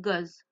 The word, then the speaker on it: goes: On rajoute s à la fin qui nous donne goz. Donc go, goz, l'appareil, attention à la prononciation.